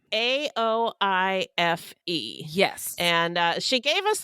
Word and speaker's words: Aoife: Yeah, it's pronounced Aoife.